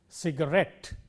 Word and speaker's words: cigarette: words of these patterns let us take words ending in ET te words like cassette or cigarette in all these words the stress is on the last syllable cigarette cassette and so on